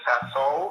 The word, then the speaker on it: Sasso: Now, and Mr. Sasso, is that how you pronounce the last name? Yes, sir. Okay, Mr. Sasso.